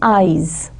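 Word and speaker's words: -ize: Most of the times it is done by using the suffix IZE, जिसको pronounce करेंगे eyes.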